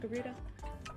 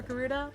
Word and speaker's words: Garuda: Is that how her name's pronounced? Garuda? Yeah, it's Garuda. I love that.